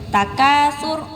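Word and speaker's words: التكاثر: Tapi kalau tidak panjang seperti ini, takasur langsung matikan ya keronya. Karena sering sekali kita juga mendengar karena di akhir kalimat, karena di akhir ayat dipanjangkannya.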